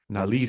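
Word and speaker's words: Nalesean: But then also in this specific instance, Nalecion, Nalecion, apparently. Nalecion, with the emphasis on Nalecion, the Lee. Nalecion.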